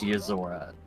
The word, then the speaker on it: Yozora: Is that what it's pronounced? Yozora.